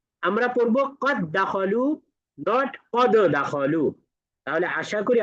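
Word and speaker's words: قد دخلوا: দিব তাহলে কিভাবে পড়ব কদখলুদ পড়া যাবে না পড়তে হবে কদখলু কদখলু ধরে নিতে হবে মাঝখানে দাল সাকিন বলতে কিছু ছিলই না এটা শুধুমাত্র উচ্চারণে লেখাই ঠিকই থাকবে।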